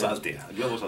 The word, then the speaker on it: Altea: Then people from other countries tell me, how do you pronounce Altea? I didn't know, but it's Altea.